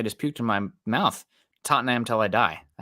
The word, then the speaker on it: Tottenham: Tottenham till I die.